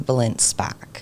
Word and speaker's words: Balint Szpak: Deets right here so how do you pronounce the middle name oh sorry my full name is belinspack that's it two last names and your trade